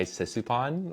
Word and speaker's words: Sisouphanh: Like some people will do the PH as an F.